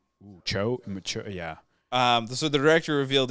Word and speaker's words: Zhao: Zhao? Cho, yeah.